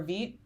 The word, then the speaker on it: Vite: Oh, enter in a vite or vit. Isn't it vit? I pronounced it vite my first few times learning about it and then found out it was V through Theo.